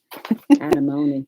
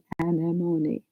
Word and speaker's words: Anemone: Anemone. Anemone. Yeah. I think I said it like that, Joyce, but thank you for the phonetic 4 syllables. Anemone.